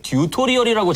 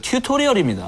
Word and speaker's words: 튜토리얼: 여기서 한 말씀 드리고 싶은 게 우리나라에는 튜토리얼을 듀토리얼이라고 잘못 발음하고 계신 분들이 상당히 많습니다. 튜토리얼이요? 그게 무슨 말이죠? 저도 모르겠어요. 그 물어봤어요. 듀토리얼이라고 네. 하는 사람들한테 찾아다니면서 물어봤는데 원래 듀토리얼 아니에요? 네, 이러신 분 많은데 튜토리얼입니다.